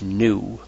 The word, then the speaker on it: nu: this is the Greek letter N which is pronounced new new with an over bar as wave number